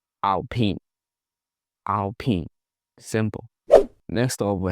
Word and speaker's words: Alpine: So this is what some people call Alpine, but that's not it. The French say Alpine, Alpine, Alpine.